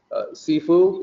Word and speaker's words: Sifu: This actually comes from the Cantonese pronunciation of the two Chinese characters. In the more proper Mandarin pronunciation, it is 师父. So it is more SH than SHI than SI for the first character.